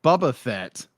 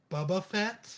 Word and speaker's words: Boba Fett: book but book of boba fett is gonna be shorter bubba fat i said it wrong i've always called redneck